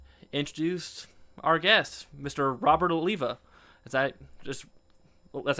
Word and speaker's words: Alleva: Robert Oliva. Is that just that's how it's pronounced, right?